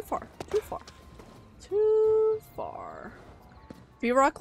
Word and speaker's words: Vrock: too far too far vrock like Brock so I say it like Brock that's kind of weird there's no B but English is weird